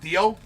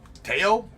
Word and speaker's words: Teo: Wait, it's not, you don't pronounce it Theo? Teo? Is how it's pronounced? It's Teo?